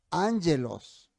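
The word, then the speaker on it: ἄγγελος: hablamos también de eso no angelos no sé si escribí bien aquí pero así se pronuncia no y angelos o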